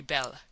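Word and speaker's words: belle: that they are very bell. Now don't mispronounce things and get sore till you know. You pronounce that like bell and push button.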